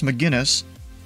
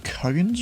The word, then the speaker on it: McGinnis: call it, but now it's McGinnis because I heard one of our controllers say that. I think I used to call it McCuggins or something like that. But it's McGinnis, apparently. When South Africa mispronounce it,